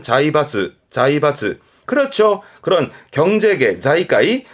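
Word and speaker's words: 財閥: 발음은 자이바즈. 자이바즈. 그렇죠. 그런 경제계. 자이까이 그런 경제계에서 뭔가 세력이 있는 그런 자본가들을 재벌이란 말을 쓰지. 자이바츠.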